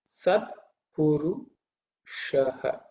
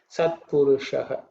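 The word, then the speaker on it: सत्पुरुषः: So the plain name is Sat Purushaha. Okay. The Sha is the cerebral Sha, so the tongue should rise up and say Sha. Okay. Sat Purushaha.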